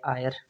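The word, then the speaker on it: heir: ही died without ड आयर तो इधर भी एच इसमें आप सही आंसर दे सकते हो बिल्कुल आसानी से इसमें देखो जो एच है ये साइलेंट है तो ई आई आर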